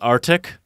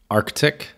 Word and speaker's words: Arctic: It's not Arctic. Arctic. Yeah, Arctic.